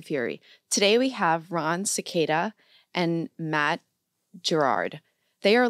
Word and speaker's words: Sequeira: So when you pronounce the name in Spanish, it's Cicada, right? Mm. That R kind of rolls off like a D.